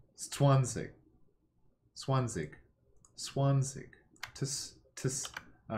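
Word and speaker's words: zwanzig: Okay, well, even with this hint, German is a Z pronounced like ts. So, Swanzig. Swanzig.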